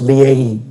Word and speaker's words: Leahy: Leahy, Your Honors. I think it's pronounced Leahy, just to help.